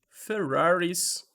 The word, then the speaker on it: Ferrari: Por exemplo, se eu chegar e falar They bought two Ferraris, e sim, gente, em inglês é Ferrari mesmo, desse jeitinho, last week.